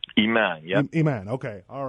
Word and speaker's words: IMAN: ramin a CC b of the inner-city Muslim Action Network and that's pronounced is that pronounced Iman a man a man okay all right thank you for